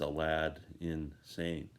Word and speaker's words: Aladdin Sane: words, was David Bowie's Aladdin Sane. It's spelt like Aladdin Sane, but it's, when you say it, it's Alad insane.